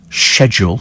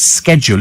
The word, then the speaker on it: schedule: language and you're absolutely right about schedule it's only pronounced schedule if you speak us English unfortunately American English is